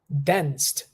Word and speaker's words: danced: past of dance is danced dened exactly like a t sound that's that's the way uh we pronounce this word right there dened she